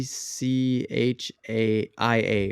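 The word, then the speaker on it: Tchia: the middle of it and it's called Uh Chia but it's like t c h i a or something like that but it's called It's pronounced Chia okay and it's about a little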